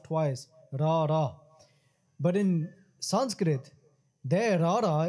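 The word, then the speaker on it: ੜ: In English, in Gurmukhi we say Rara. Rara is just like in English you say R, but it's different. Because Rara has to hit the roof of the mouth twice. Rara.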